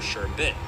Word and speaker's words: sherbet: And sherbet isn't pronounced with the extra R like I just said but rather sure bit.